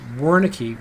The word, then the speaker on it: Wernicke: physician Carl Wernicke and most of us in the West will pronounce that as Wernicke Wernicke's area and it is